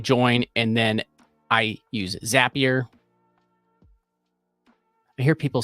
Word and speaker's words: Zapier: and then I use zapier I hear people say zapier but I I always say zapier because they say zap things so why would I